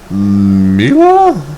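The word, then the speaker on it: Milla: I now unlocked Mila?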